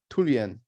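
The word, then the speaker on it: ทุเรียน: know sure perfect and Thai it's actually pronounced tulian right we got Andrew's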